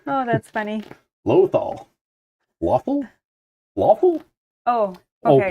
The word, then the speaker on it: Lothal: Lothal. Lawful? Lawful? Oh, okay. Oh, Pontus is from there, actually. Pontus knows. It's pronounced Lothal.